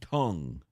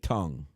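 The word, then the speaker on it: Teng: W I mean, I'm pretty sure he said it was supposed to be pronounced Kaiway Tongue. Yeah. I mean, I remember when they, you know, his first start this season like going and trying to find the absolute correct pronunciation and Ting was what I got.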